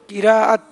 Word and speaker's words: قراءت: قراءت یا قرت؟ قراءت. قراءت. لوگ کہتے ہیں قرت کر رہا تھا. قرت لفظ درست نہیں ہے. لفظ ہے قرآن پاک کے لیے جو استعمال ہوتا ہے وہ قراءت ہے, اور قراءت صحیح تلفظ ہے.